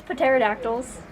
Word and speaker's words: pterodactyls: Yes, pterodactyls. I think the P is silent.